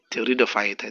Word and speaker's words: pteridophyta: Check the spelling, pteridophyta, the P is silent.